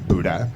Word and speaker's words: Budde: is Budde, B-U-D-D-E, pronounced Buddha.